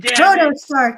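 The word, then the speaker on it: Protostar: Proto star Kyle Fletcher.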